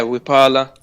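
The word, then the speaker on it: Wiphala: 4, is the, I don't know how to pronounce this, so I apologise, but is it Wipala? Yeah, Wipala.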